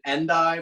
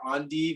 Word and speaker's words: endive: i picked up um this is a an endive or andi it's spelled e-n-d-i-v-e it's kind of like a type